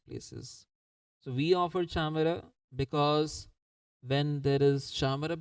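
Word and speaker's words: chamara: offered is the chamar this Cham if you see it is written in English it seems like camera but the correct way of pronouncing is chamar so chamar is made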